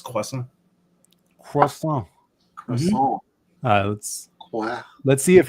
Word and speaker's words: croissant: It's croissant. One more time. You don't pronounce the T. It's croissant.